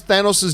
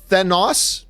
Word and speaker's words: Thanos: to make sure, but while everybody pronounces Thanos' name with an O, Nebula is the only one who pronounces it with an A. Sounds like Nos in car. Wonder why. Thanos?